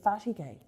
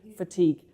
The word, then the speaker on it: fatigue: I'm reading this from the book fatty gay. It doesn't that's not how it's said. That's French. I keep switching to French mode fatigue cuz my dad's French.